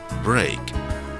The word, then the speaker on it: break: letter combination e a can also be read as a so be our e a K is break and ste a K